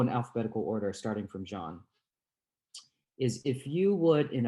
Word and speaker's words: Jean: JEAN : OK, thank you. Thank you for everybody in this panel. My name is Jean, but you can also pronounce it as "Jeen."